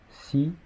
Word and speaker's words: six: Il se prononce si devant un nom commençant par une consonne.